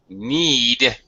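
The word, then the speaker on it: knead: need to need okay the word is need KNN but just like the knee on your body on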